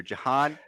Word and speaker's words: Jahan: so next going back to some offense here jahan dotson is it jaehon jahan john john jahan